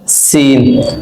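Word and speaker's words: س: ক কা ল জাল সদ সিন। সদের উচ্চারণ একটু আওয়াজটা একটু মোটা হবে, আর সিন উচ্চারণ একদম পাতলা হালকা ভাবে হবে।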